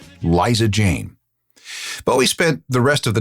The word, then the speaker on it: Bowie: Now, let's be clear, this is how you pronounce it. Bowie, not Buoie and not Bowie. Although guitarist Mick Ronson insisted on pronouncing it that way, it should be pronounced Bowie.